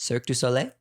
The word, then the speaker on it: Cirque du Soleil: Well, how is it pronounced? Cirque du Soleil.